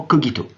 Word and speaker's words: cogito: Alors je dis cogito, mais la prononciation a deux conventions, on pourrait tout à fait dire également cogito.